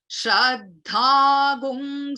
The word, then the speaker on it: Śraddhāṃ: Basically when there is a bindu like this, which is followed by a sa, it becomes, the bindu becomes gung. It is pronounced as gung. This is basically the way it is chanted in the Yajurveda.